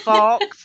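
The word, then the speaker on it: Fawkes: Sorry, who is Guy Faux? It's Fox, spelled FAWLKS.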